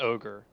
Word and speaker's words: Ogier: from someone called Ogier, I think his name is Ogier. Yeah, it's pronounced Ogre, but yeah, that's true.